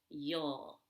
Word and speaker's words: you'll: of you and will can be pronounced you'll now that's the short back u as in the word book yo that's what you'll